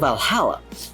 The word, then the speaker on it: VA-11 Hall-A: Good thing it's actually called Valhalla.